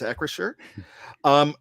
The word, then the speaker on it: Acrisure: Danny Don Hawker, I hope I pronounced that right, asked how it's pronounced, and it's Acrisure. We're pretty sure it's Acrisure.